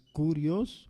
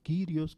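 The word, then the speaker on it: κύριος: La palabra que se usa, que es curios o quirios, como quieran pronunciar, es justamente la traducción de eso.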